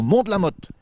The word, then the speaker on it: Mont de la Motte: On est au Mont de la Mote. Ouais et ça s'écrit le Mont de la motase. Ouais mais on le dit pas.